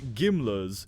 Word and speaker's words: GMLRS: The GMLRS, pronounced Gimlers, is an artillery rocket which is a solid-fuel rocket-powered explosive weapon.